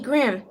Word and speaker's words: Grimm: I'm Jamie Grimm. Rhymes with Fisquim. Everybody chuckles. So I keep going. Even though my voice is sort of shaky, it also rhymes with him.